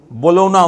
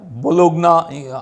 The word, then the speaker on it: Bologna: Actually যদি স্পেলিংয়ে English স্পেলিংয়ে লেখা হয় BOLOGNA, এটা উচ্চারণ করা হয় সম্ভবত বোলোনা। বোলোনা উচ্চারণ করা হয়, বোলোগনা আসে বানানে, আর উচ্চারণ করা হয় বোলোনা। তো এই শহরে এই প্রিমিয়ারটা হয়ে গেল।